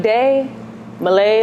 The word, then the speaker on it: Dia Malai: about you yeah so Dia Malay do you like day Malay like Malaysia that's how you pronounce it sing a songwriter born